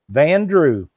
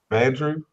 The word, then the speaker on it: Vandrew: How you say it? Vandrew. Vandrew. I had to ask her to make sure I didn't mispronounce it.